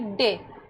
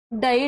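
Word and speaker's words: day: देखते इसका fourth rule, जब ए वाई साथ में हो तब इसका उच्चारण ए करेंगे। ए और वाई साथ में हो तो इसका उच्चारण क्या करेंगे, ए करेंगे। जैसे कि डे, अब डी ए वाई,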